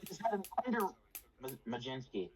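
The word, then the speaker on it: Mlodzinski: He's had an Majinski. Majensky.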